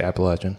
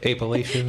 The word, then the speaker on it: Appalachian: I love it nice how do you say Appalachian Appalachian Appalachian you don't say apalachian he's not even from here